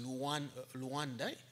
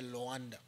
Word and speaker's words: Luanda: Angola, by then Luanda, now pronounced Luanda. They used to say Luanda.